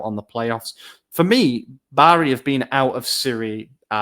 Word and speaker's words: Bari: I think it's pronounced Bari, actually, but I don't intend to. Bari, like sheep.